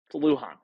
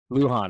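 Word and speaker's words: Lujan: is it Zack Leon is that how you pronounce it Luhan Luhan okay there we go um so he's a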